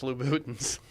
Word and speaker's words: Louboutins: You know, It's pronounced Louboutins.